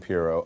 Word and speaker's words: Pirro: With Trump just a few hours ago, Sean Hannity and Jeanine Pirro of Fox News.